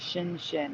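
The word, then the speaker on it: Xin Xin: know that because the corner store is named Shin Shin it's Xin n Xin n and the store owner told me it's pronounced Shin shinin shinin shinin yeah oh here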